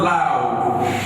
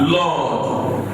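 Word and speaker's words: laud: Now, L-A-U-D is not loud, but Lord. Pronounce it. Lord. The way you pronounce your L-O-R-D.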